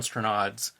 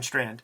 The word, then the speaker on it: Strnad: richard corbin and jon stranad's mutant world or is uh i used to pronounce when i was a little kid jan strand yes before we dive